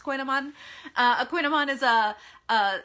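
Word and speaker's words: kouign-amann: coogan almond to two different words but it's pronounced koinoman uh aquinoman is a uh this sort of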